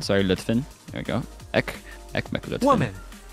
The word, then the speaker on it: Lütfen: Ekmek Lüften. Lütfen, sorry, Lütfen.